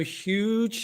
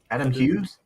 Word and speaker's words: Hughes: from hard case Comics cover with uh Adam huge is that how you say it Huges Adam Hughes yeah okay um so what is it it's